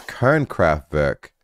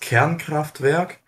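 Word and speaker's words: Kernkraftwerk: teach me kern kraftwerk what the freak is kern kraft burke hello uh it's pronounced cairncraftwerk and it's um yeah the german word for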